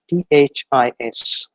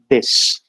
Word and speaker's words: this: a very common word t-h-i-s and the basic pronunciation of it is this and we find that most of the people from our context pronounce it as this whereas there is no